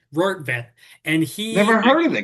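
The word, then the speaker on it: Rortvedt: I had to remind myself how to pronounce his last name, Rortvet, it's got to be Dutch, Rortvet, and Never heard of the guy.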